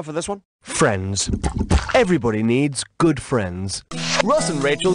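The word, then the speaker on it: Niamh: The name is pronounced need, and therefore rhymes with achieve.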